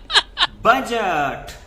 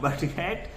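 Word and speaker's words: budget: spelling and he wrote बजट इ this is नॉट बजेट this is बजट and this might happen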